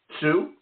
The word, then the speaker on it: Tsu: per you got it you got it right Sue that good yep that's